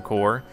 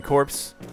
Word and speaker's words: corps: There's the Security, Construction, and Agricultural Corps, and a few others besides. It's so hard for me to pronounce it as corps rather than corpse.